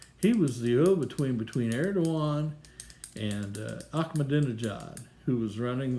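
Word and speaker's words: Erdoğan: the other way as Erdogan was making billions in shoe boxes. Check YouTube. Erdogan. Put it in. Erdojan. Erdogan. Right? But it's pronounced Doan. The G is silent.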